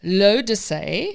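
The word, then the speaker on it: L'Eau d'Issey: Leo Dizzy? To say. Almost. That's actually very good to say, because that is actually how you say it. Okay. So it's lo de say.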